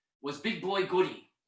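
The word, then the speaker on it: Goudie: name was big boy goodie g-o-u-d-i-e but pronounced goody and i've never heard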